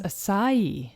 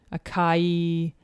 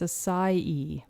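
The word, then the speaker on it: açaí: pronunciations of this so some people will say akai akai or just a sai but you actually stress the last syllable of e so it's a psi it's a species of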